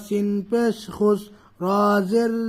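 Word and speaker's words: خسر: খুস খ সিন পেশ খুস র জের রি খুসরি খুসরি অকফ করলে কি হবে খুসর খুসর পাতলা হবে ইন্নাল ইনসানালাফি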